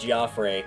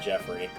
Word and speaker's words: Geoffrey: Yes, it is pronounced Goffrey. It is actually canonical. The guy that does the voiceover for this game at one point mentions his name and it is Goffrey, not Jeffrey.